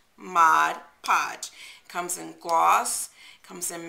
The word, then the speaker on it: Mod Podge: is my pet peeve when people mispronounce mod podge it's not modge podge mod podge comes in gloss comes